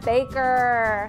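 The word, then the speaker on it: Boecker: The Witch Hunter, ooh, by Virginia Baker. Not spelled like my Baker, but said the same way.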